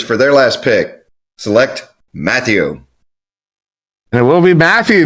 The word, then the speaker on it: Matthew: And he said, "Actually, he loves it when I call him Mathau." Even though that's not how it's pronounced, it is Matthew.